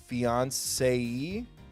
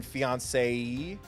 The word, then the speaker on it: fiancé: And then fiancé? Isn't that just fiance? So it's fiance with an extra syllable?